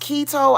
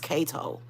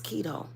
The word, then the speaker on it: keto: saying it definitely helps key oh is it pronounced keto I thought it was Cato I've been calling it Cato this whole time